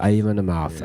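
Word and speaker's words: Amon Amarth: Because Bathory also went on to spawn Viking metal, which is it Amon-Aroth? I never pronounce that right, but Amon-Amarth. Amon-Amarth.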